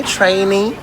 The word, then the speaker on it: training: Training. En fait, ça se prononce training.